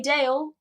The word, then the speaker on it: Dael: you can find me on Twitter at daily Dale which is spelt its daily like the word but then